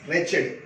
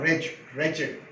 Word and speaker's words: wretched: This word wretched should be pronounced as wretched, not wretched.